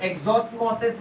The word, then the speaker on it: exosmosis: पर इस osmosis में पानी सेल के बाहर जा रहा है, so इसको हम लोग बोलेंगे exoosmosis। प्रोनाउंसिएशन वाइज exosmosis भी बोल सकते हैं बेटा।